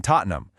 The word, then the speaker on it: Tottenham: So, Bibber becomes Bberry or Ham like in Tottenham where the H just disappears and it becomes am.